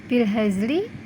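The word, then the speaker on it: بالهزل: Contoh, tulisannya bilhazli, dibacanya bilhazl.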